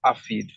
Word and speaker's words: ARFID: It's actually pronounced ARFID, Avoidant Restrictive Food Intake Disorder.